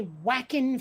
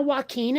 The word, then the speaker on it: Joaquin: If you're going to say whackin' Phoenix, you're just wrong. Like, I don't care if you're not Spanish or Hispanic of any stripe, you're wrong. That's not how Joaquin is pronounced.